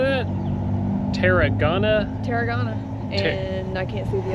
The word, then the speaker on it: Tarragona: Tarragona.